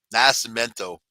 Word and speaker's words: Nascimento: I'll pronounce it better than that. Nascimento. Nascimento. 43 rented the booze barrel